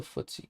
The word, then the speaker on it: FTSE: about 13 um how do you what's the footsie called how do you spell it what's the english uh market trigger for